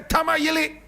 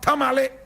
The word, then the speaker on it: Tamale: If the white man could not say Achim, but Akim. If he could not say Tamayili, but Tamale.